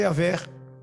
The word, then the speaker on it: Yahvé: O tetagrama só dá para pronunciar Yahvé, só, mais nada, e não é nem para pronunciar.